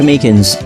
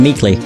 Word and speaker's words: Meekins: for it actually officer Meekins at the detention center told us now that poor little doggie poor guy kept getting his name wrong and calling him meekly he taught us something